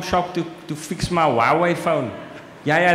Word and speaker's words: Huawei: to to fix my Huawei phone yeah yeah that's how I pronounce it Huawei Huawei yeah I know you write it who are we but but yeah you